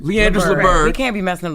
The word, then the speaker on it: Leandris Liburd: Leandris Liburd. Did I pronounce that right? Yep. No, it's not fine. No, what is it? Leandris Liburd. Leandris Liburd.